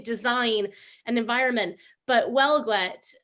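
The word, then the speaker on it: Huelgoat: an environment but well gwet um which is spelled like h-u-e-l-g-o-a-t it's it's it's like a breton word um was again one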